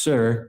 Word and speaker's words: Tyre: The capital Phoenicia, spelled Tyre, it's pronounced Sir, and it means rock.